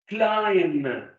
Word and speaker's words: climb: Climb. We don't pronounce the B.